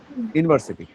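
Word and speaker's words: university: তারপরে মনে করো ইউনিভার্সিটি, কি বলো ইউনিভার্সিটি? আমরা কিন্তু ইউনিভার্সিটি যেটা বলি ওয়াই, ওয়াই উচ্চারণ হয় ইউনিভার্সিটি, রাইট?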